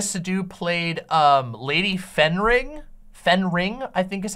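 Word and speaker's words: Fenring: Leah sadu Leah sadu played um lady fening Fen ring I think is how it's pronounced lady fening um and even though her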